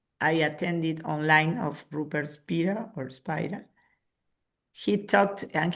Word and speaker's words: Spira: I don't know if to say Spira or Spider because he he had already explained this, that his original name, osea the the the pronunciation is Spira, but that many many all the English speaking people calls him Spider.